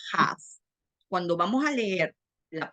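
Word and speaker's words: כ: La CAF se pronuncia, cuando tiene un puntico adentro se pronuncia CAF. Y cuando no tiene el puntico adentro, se pronuncia have.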